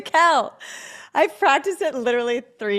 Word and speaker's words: Tickell: welcome my guests today Rebecca tickle no I said it wrong toel I've practiced it literally